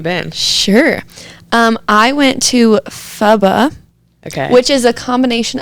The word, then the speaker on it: pho: And that was my first time trying pho.